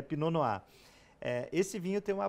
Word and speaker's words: Pinot Noir: aqui algumas uvas né pinoa Escreve Pinot Noir né essa palavra francesa né P É isso aí Pinote noir mas a a pronúncia é pinoa eh esse vinho tem